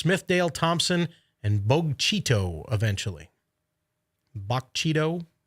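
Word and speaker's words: Bogue Chitto: Bogchito, I believe is how that's pronounced.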